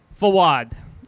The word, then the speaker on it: Fawad: my parents right now fawad i say mounting out the syllables to make sure there's no miscommunication fod put me out of my misery already like uh like a awad with an f oh i like it